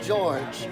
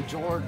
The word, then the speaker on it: Georg: No, it looks like it's George without the E at the end, but it's pronounced Georg.